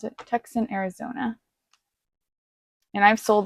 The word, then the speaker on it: Tucson: So this is going to Tucson, I think that's how you pronounce it, Tucson, Arizona.